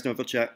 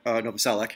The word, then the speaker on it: Novoselic: passed away black hole son performed with Chris Novacek Novoselic I was saying that name wrong and Dave Grohl how awesome would that